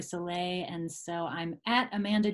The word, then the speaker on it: Sellet: I'm Amanda Soleil it's spelled like sell it but it's actually Soleil and so I'm at